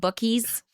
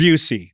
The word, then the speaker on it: Buc-ee's: people told us to go to something called Buc-ee's. And you kind of like a little Alabama twitch. Buc-ee's. Which we didn't I thought have. it was Busey.